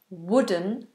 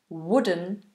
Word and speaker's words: wooden: words wooden and wood so this is that short uh sound even though it's a double O wooden wooden and wood the same as I would do it I would chop the wood if I had an ax I would chop the wood exactly the same pronunciation hope that helped Reuben